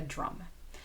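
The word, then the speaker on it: DRUUMM: It's pronounced just like the instrument, a drum.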